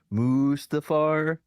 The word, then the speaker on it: Mustafar: That's why their final battles on Mustafar, which is like, you know, all this fire and crap, which is the correct pronunciation, Chad. Mustafar.